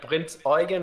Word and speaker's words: Prinz Eugen: Yeah, So no, I yeah, mean, Prinz Eugen is the correct way to say there we it.